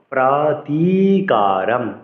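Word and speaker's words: अप्रतीकारम्: সম্পর্কে অবগত হই ইয়াদিমা প্রাতিকারম প্রাতি বলতে হবে দীর্ঘ কিন্তু প্রতি বলে এখানে কিন্তু পফার সাথে কিন্তু ওকার নেই ফলে প্রতি বলা যাবে না।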